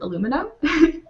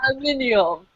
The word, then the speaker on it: aluminium: They wanted to ask you how you pronounce the word aluminum. You mean aluminium, not whatever you say.